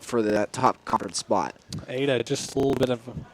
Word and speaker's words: Ada: And I'm I believe you pronounce it Ada Oklahoma. Yes, Ada sir.